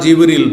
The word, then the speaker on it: জিব্রীল: ফেরেশতাদের প্রধান জিব্রাইল বা জিব্রীল দুইভাবে উচ্চারণ করা যেতে পারে।